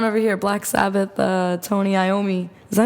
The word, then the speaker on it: Iommi: Black Sabbath, Tony Iommi.